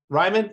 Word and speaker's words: Ryman: Ryman? Ryman. Ryman, German pronunciation.